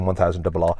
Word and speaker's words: M1000RR: Okay, so that's how you say it, M1000RR.